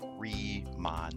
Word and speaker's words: Riemann: with reman so you have this new phrase remon Sams is the way it's pronounced that we're going to talk a little